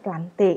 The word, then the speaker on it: plantae: Kemudian yang keempat adalah kingdom plantae. Ini adalah kerajaan tumbuhan. Tulisannya plantae tapi dibacanya plante. Itu tata cara bahasa Latin ya anak-anak.